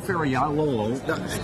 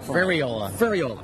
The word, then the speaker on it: Ferriola: Ferriolo, say it right. Ferriola.